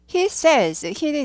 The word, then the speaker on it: says: 쿠키를 만들고 있는 중입니다 he says는 이제 크리스가 리키는 거죠 크리스가 말합니다 say 에다가 어 히가 3인칭 단수 현재까 동사를 붙이는데 발음은 세가 아니라 say he says he says 되는 거죠 여기에는 대시 생략돼